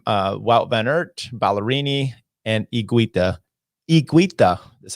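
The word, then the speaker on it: Higuita: sent in saying him it's not heguita it's igueda and i'm like look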